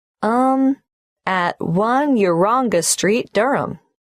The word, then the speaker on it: Durham: how do you spell Durham d r h a m of course I should know that but it's just one of those names that sounds quite different from the way you spell it it is confusing I've